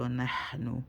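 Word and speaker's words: نحن: When the sod nah, first of all, the nah, the ha is originally with air. If you say without bringing the air out, you're not saying it right. So nahnu, you hear the air.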